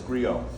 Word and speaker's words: griot: And it's pronounced griot, by the way. I know I got thrown off by the T, but it's griot.